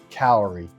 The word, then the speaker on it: Hcalory: So again, this is called the Hcalory. H stands for heat, and then calorie is actually a unit of heat. So it's pronounced Hcalory.